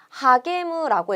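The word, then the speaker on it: 励む: 하게무라고 읽어요.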